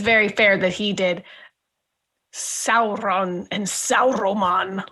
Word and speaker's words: Sauron: Of how, it's not Sauron, it's Sauron. Sauron. Anyway, Isildur. It's not Isildur, it's Isildur. Anyway. Isildur. You gotta roll your Isildur. I don't think it's very fair that he did Sauron and Sauroman.